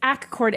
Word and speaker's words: Accord: road trip um to it's actually it's spelled like Accord New York but you don't say it like Accord New York you say acord AC chord that sounds awkward okay it's acquord and when the people